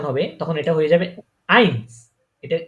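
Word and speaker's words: eins: এই যে এ যখন এখানে ইটা উচ্চারণ হবে তখন এটা হয়ে যাবে আইনস। এটা উচ্চারণ কি হবে?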